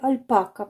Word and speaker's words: альпака: деяких наших українських слів як правильно альпака чи альпака але з огляду на те як ми робимо наголос на назви тварин е в нас переважно наголос іде на останній склад собака корова овечка коза значить буде і альпака Мені здається що так правильно е вимовляти е тож я буду